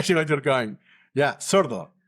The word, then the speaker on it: sordo: Yeah, sordo. How do I spell it, though?